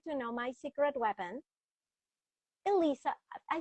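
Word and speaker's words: Alessa: Because it looks like a L E SSA. So that's all I have to say. I have to say Alyssa. Alyssa. Yeah, that's that that's when I introduce myself. I say my name is Elissa. Elisa is how you're gonna hear me say it.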